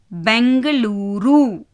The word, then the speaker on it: பெங்களூரு: இதில் பார்த்தீங்கன்னா இதுலேயும் பாக்கு மேலே புள்ளி இருக்குது. முதல் எழுத்து பா, இரண்டாவது எழுத்து கா, மூன்றாவது எழுத்து லூ, நான்காவது எழுத்து ரு. ஸோ பாக்கு மேலே புள்ளி வச்சதுனால பெங்களூரு. எப்படி ப்ரொனவுன்ஸ் பண்ணுவீங்க? பெங்களூரு.